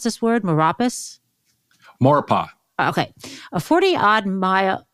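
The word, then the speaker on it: Maurepas: minute drive from New Orleans how do you pronounce this word moropus morpa okay a 40 odd mile 40 odd minute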